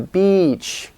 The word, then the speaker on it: beach: or if you say I'm going to the beach okay it's important because if you don't make it long enough it might be misunderstood as a bad word where that's bad and